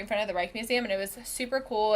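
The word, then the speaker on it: Rijksmuseum: you go to the Reich Museum I don't think so what's that one so it's spelled are ijk right Museum but it's right in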